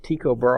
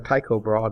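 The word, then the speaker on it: Tycho Brahe: by the name of tiob bra or taob bra depending on how you say it um meticulously mapped the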